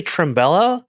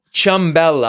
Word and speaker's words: Ciambella: Did you say Trimbella? Ciambella.